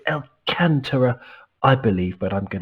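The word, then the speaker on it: Alcântara: important doug alcantara the the accent is on the second syllable a the second a so it's alcantara i believe but i'm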